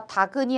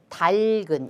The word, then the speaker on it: 닭은: 그렇기 때문에 앞에 있는 건 남겨두고 뒤에 있는 것만 옮겨야겠죠. 그래서 다근이 아니라 달근 이렇게 발음을 해야겠죠.